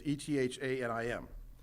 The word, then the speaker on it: Ethanim: So the original name for this month is Ethanim, which is, I saw various pronunciations, Ethanim, but let's just go ahead. Let's do it phonetically. It's Ethanim.